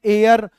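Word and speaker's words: heir: तो इसका उच्चारण हमने देखा, उच्चारण है एयर, और ये ऐसे शुरू हो रहा है, यानी कि वोवेल साउंड है।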